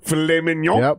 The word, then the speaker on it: filet mignon: Club's uh filet mignon steaks filet mignon yeah filet mignon you can't pronounce the second yeah it's filet mignon those